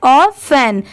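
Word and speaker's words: often: बट यहां पर इसे क्या प्रोनाउंस किया गया है? ऑफन। यहां पर ये जो टी है टी की साउंड ट की नहीं आ रही है। इसे ऑफेन प्रोनाउंस किया गया है। टी लेटर साइलेंट है। ठीक है? यहां पर ओ एफ ऑफ और इ एन एन दोनों को मिला दिया गया है। ऑफेन टी यहां पर साइलेंट है।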